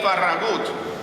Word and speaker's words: Farragut: We don't have to imagine that, because the first admiral of the United States Navy was David Farragut, or more accurately pronounced, David Farragut, descendant of Spanish soldiers.